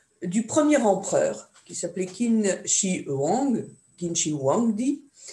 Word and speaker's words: Qin: Vous savez que ce mot Qin, on le prononce Qin, est cette dynastie du